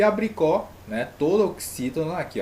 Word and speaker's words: abricó: E a abricó, né, toda oxítona aqui, ó, abricó, a última mais forte, né, a sílaba tônica, então a sílaba tônica, a oxítona